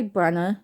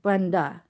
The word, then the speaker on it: Brenna: yeah I'm gonna bark I go by Brenna and then again some people are like oh you mean Brenda oh Breanna oh but nah nah how